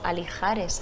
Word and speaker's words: Alijares: el Palacio de Alijares, dicho por mucha gente Alixares, pero esto por esa el hotel. X es J, ¿eh? Sí. Esa X se pronuncia como J. J, sí, escrito en árabe es para J.